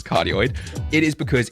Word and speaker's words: cardioid: That mic works for suppressing or getting rid of the background noise isn't because it is a cardioid, or actually pronounced as cardioid.